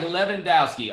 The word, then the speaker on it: Lewandowski: Um, Lewandowski. Oh, Le Oh, it's pronounced like Leandowski.